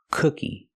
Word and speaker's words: cookie: Moon and soon cookie but the word cookie has a short sound uh like book and look cook cookie these are cookies let's